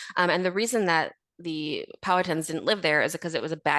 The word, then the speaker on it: Powhatan: Oh, great question, because I had to look up how to pronounce it. I'm saying Powhatan.